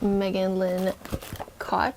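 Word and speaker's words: Megan Lynn Kott: Thank you, Megan Lynn Cott.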